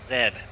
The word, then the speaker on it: Z: like everyone else z it's not z it's zed yeah like zebra oh it would appear